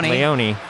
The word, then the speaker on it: Leone: 22 is michael uh leone leone rhymes with michael zioni maybe they did it